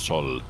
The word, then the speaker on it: Zoll: But actually in German it's Zoll with a Z, but yeah.